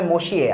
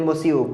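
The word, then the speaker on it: monsieur: পৌঁছাতে না পৌঁছাতেই দেখি মসিয়ে জিরার, ওদেরকে বলা হয় মসিয়ে, আমরা বলি মসিউ, বজু মসিউ এভাবে বলতাম।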